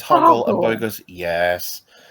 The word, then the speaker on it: Hoggle: way it's delivered because they keep getting Hoggle's name wrong. It's when they're down in the tunnels and Bowie goes, "Higgle." And he says, "Hogle."